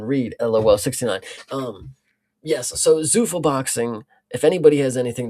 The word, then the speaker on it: Zuffa: yeah, Zuffa, sure, Yeah, so Zuffa boxing is now a thing, and they did put on a Canelo and Crawford card earlier this year.